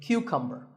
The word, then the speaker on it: cucumber: This is a cucumber. It's not a cucumber. Think of it like saying the letter Q and then cumber like number.